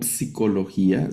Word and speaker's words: psicología: en palabras que usamos en español la famosa p, en palabras de psicología, psicólogo, todo eso, no decimos psicólogo, psicología, sino solo se lee la s, ¿no?